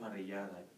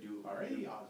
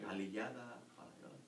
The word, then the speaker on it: parrillada: Your problem is double L. Yeah. Like the Puerto Rican say, they have a hard time for that double R, for that R. They say palillada, like a Chinese, say it like this, palillada, trouble with the R.